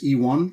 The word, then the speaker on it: Ivan: including your presenter dude my parents intended my first name to be pronounced as E1 letter e number one it's very simple I'm happily married and I have two sons age 15 and 17.